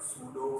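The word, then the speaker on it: pseudo: Imaginary force is called सूडो force. P silent है, नहीं तो SEUDO कर देंगे, सूडो फोर्स, पी साइलेंट है।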